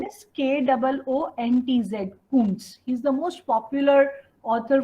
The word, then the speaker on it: Koontz: Spelling is KOONTZ. Author's name is KOONTZ. Kuntz.